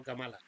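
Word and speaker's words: Kamala: votar a la señorita kemala Harris quemala eh Porque es creo que se pronuncia kemala No camala pues la señorita kemala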